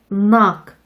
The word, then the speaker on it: knock: K의 발음이 묵음인 경우도 있어요. K가 N을 만나면 부끄럼쟁이 K는 숨어버리거든요. 이쪽도 따라서 연습해 볼게요. No, knock, knife, meat, knob.